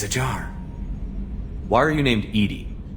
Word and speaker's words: EDI: Why are you named Edie? ED is the phonetic pronunciation of EDI. That is an acronym for Enhanced Defense Intelligence.